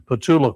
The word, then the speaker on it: Petula: Patula Clark was the correct pronunciation she told me.